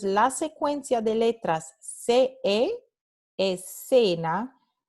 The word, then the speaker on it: escena: La letra C se pronuncia S, escena. Pero en el norte y el centro de España, esta palabra se pronuncia de una manera diferente. Se pronuncia escena, escena. Again, that TH sound from the verb through, th, escena, ¿no?